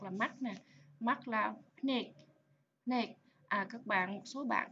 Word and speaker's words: ភ្នែក: chữ cò nè ha, cho đó đọc là neck.